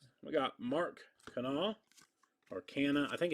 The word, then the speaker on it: Canha: was watching them on ESPN last night and they said Canna, and I had heard Canal elsewhere, so I'm going to go with Canna. I would assume ESPN announcers are going to know the proper way to say Canna's name.